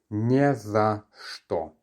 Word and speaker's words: не за что: When you hear this word pronounced all together, it's не за что. Не за что. Do you hear that bit of reduction at the end?